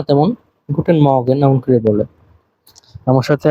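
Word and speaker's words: Guten Morgen: একটা জিনিস মাথায় রাখবেন এই জায়গায় আর এর উচ্চারণটা হয় না তেমন গুটেন মর্গেন এমন করে বলে আমার সাথে আবার বলবেন গুটেন মর্গেন শুভ সকাল এরপরে টাক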